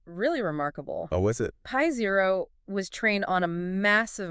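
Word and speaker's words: π0: pronounced pi0.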